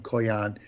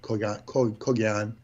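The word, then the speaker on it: Kogaion: Different ways to spell it, K-O-G-I-A-N, K-O-G-H-I-N, Koyan. The G is silent, Kogyan. Or you can harden it, Kogyan, Koan. It's like Cohen.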